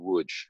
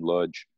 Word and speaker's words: Łódź: even more particularly on wood and lodge pardon me for going back and forth between the yiddish pronunciation and the polish pronunciation um it was interesting